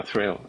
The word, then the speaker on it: Thrayle: To answer your question about not knowing, I don't know how to pronounce Thrayle. Is that Thrayle? Yeah, Thrayle.